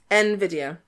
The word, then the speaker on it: Nvidia: it might be in is that how it's pronounced in video yeah but it starts with an n yeah nvidia nvidia oh okay nvidia but of course that was